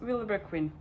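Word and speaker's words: Vilebrequin: not so how do you pronounce it i pronounce it willowbrook queen i think that's correct actually i have wondered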